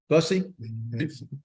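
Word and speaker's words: Buse: seven Robbie uh Lucy b-u-s-e is how you pronounce it busy b-u-s-e Robbie Bussy one two three four five six seven two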